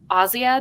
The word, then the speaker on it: Asia: you phrase it or ozzya because i have always loved that name it's a polish name it's spelled like asia and so i was